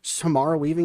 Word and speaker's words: Samara Weaving: Is it Samara Weaving?